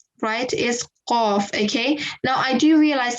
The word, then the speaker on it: qaf: So it's just a qaf, right? Yes. Okay, perfect. So okay, so we went through the letter of qaf. You elongate the sound for 5 seconds. That's the accurate pronunciation.